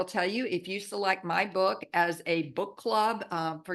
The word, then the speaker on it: Beaux: Everybody, this is Bo. He's my little handicap Pekingese, and his name is Beaux. Okay, so the French pronunciation.